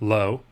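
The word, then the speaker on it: לא: This means to him and is pronounced lo.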